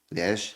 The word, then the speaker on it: Liège: And so we did a wicked warm-up show in Liège. Yeah. I pronounced that right.